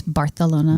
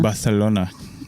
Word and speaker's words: Barcelona: It's Barcelona. Barcelona.